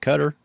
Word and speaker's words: Qatar: Qatar in the Middle East yes is it cutter or qarar how do they pronounce it qarqar okay I always thought it